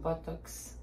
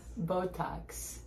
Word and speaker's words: Botox: your skin looks great you're gonna do buttocks buttocks buttocks we'll put that on the list next time words for you to pronounce okay can you teach me Botox Botox that was so wrong wait so you you do buttocks I don't know Botox good again Botox Botox yes I mean I guess